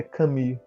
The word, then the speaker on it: Camus: Ou se vocês preferirem em francês, é Camus. Eu acho essa pronúncia muito engraçada. Comi.